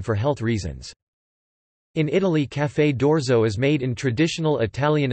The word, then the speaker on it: Caffè d'orzo: Café d'Orzo, pronounced caf-f-d-doctorzo, Italian for coffee of barley, often shortened to simply orzo, is a type of hot drink, originating in Italy.